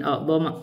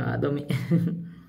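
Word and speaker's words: أعظمَ: Jadi bacanya min a'dhama, kita baca bukan a'dhami.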